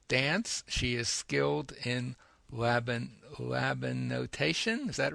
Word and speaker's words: Laban: She is skilled in Laban notation. Is that right? Did I pronounce Right?